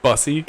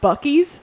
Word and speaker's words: Buc-ee's: Isn't Like- it pronounced Bussy? No, it's pronounced Buc-ee's Bussy?